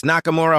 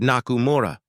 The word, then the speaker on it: Nakamura: "It's Nakamura Holdings, ma'am. You pronounced it wrong." Victoria froze. Her reflection met his eyes in the mirror, steady, unreadable. "Excuse me?" He didn't flinch. You said Nakumura, the vowels softer.